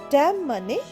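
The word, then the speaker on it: damn: এম এন ড্যাম ড্যামেও এনটা silent উচ্চারণ হবে না ড্যাম মানে অভিশাপ বা অভিযোগ হি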